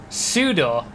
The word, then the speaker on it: pseudo: having a go at the way I say Suedo? That's how you say it. How do you not say that? How do you say that word if that's not how you say it? Pseudo.